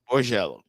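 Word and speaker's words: Borgella: Borgello.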